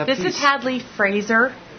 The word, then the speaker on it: Fraser: or who might meet him at some point Fraser yeah yeah yes and the correct pronunciation of Cathy's name is cath vit so